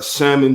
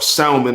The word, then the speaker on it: salmon: I got a salmon joint, or salmon, I should say, for the more esteemed people out there. Pronounce the L in salmon and all that.